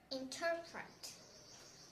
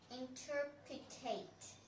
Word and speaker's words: interpret: Next is interpret. So it's a verb and it means to explain something. So some people might pronounce it interpretate, and that's wrong.